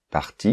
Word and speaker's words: partie: Mais elle est partie, partie, il faut mettre un E, I-E. On ne l'entend pas, c'est un E muet, mais il faut le mettre, pour l'orthographe.